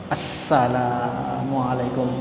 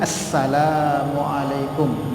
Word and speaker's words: Assalamualaikum: Assalamualaikum. Ada alif lamnya. Assalamualaikum tadi bukan salam. Salam. Assalamualaikum. Pending sedikit itu jangan assalam kumnya gak ada harus diucapkan itu.